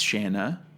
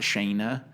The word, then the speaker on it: Shanna: I think it's Shanna, not Shayna.